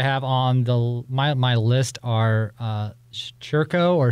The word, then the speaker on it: Circo: Others that I have on my list are Churco or Circo. I've been told it's pronounced Churco, even though it looks like it's Circo.